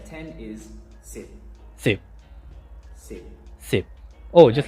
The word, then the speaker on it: สิบ: And the way you say 10 is sip. สิบ Sip. สิบ Oh, just like This นับ one สิบ is pretty สิบ 最後にはプッと書いてありますが、 สิบ いつも通りちゃんとプと言わなくてもいいです。ただ口を閉めて大丈夫です。Sip.